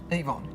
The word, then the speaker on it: Yvonne: gets me every time you're any Vaughan not it Yvonne that's correct yes Susan Eva well